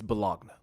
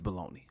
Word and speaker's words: bologna: that no it's not it's bellogna that is baloney which is crazy because the way that bologna is spelled is baloney because baloney is an